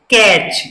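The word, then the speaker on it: catch: कैच। यानी इसमें भी लास्ट में क्या है, टी सी एच, तो टी साइलेंट रहेगा, तो इसको हम कैसे पढ़ेंगे, कैच।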